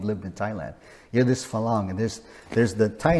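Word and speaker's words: farang: call this dual pricing there's a term called falang it's spelled f-a-r-a-n-g so the r has a little trill to it a lot of thai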